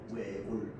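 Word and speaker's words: 외곬: 우리를 뭐라고 하냐면 외골이라고 발음합니다. 외골. 알겠죠?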